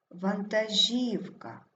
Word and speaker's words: вантажівка: падає на третій склад вантажівка наголос падає на третій склад магістерський також наголошений третій